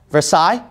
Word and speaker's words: Versailles: okay here we go I think you pronounce this Versailles right Treaty of Versailles is that correct all right Versailles okay Versailles all right Treaty of Versailles